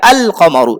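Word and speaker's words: القمر: শামসি হলে আল উচ্চারণ হবে না, আর কমারি হলে উচ্চারণ হবে, এইটা খেয়াল রাখতে হবে। যেমন কমারুন, এর শুরুতে কি হবে, আল কমারু। তারপর দিকুন, এর শুরুতে আল বসিয়েছে, তো কি হবে, আদিকু।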